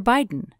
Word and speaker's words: Biden: The syllable is open, so read I long as in bite or Biden.